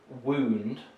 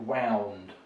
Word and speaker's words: wound: a physical injury so we would say wound not wound so wound is it